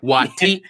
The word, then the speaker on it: Waititi: No, this is how you pronounce his name. Yeah, breaking it down. Waititi.